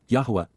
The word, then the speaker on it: Yahowah: But, YAHOWAH, Yahowah, the proper pronunciation of the name of Eloah, God as